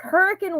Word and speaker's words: Hurricane: This year at Valley Park, Hurricane, West Virginia.